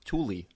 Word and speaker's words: Thule: thule ones they're white it's actually pronounced tully thule okay good to